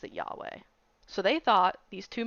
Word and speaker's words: Yahweh: It's spelled right the rest of the way, but yes, it's Yahweh. Cuz I even listened to some podcast about this, and they all pronounce it Yahweh.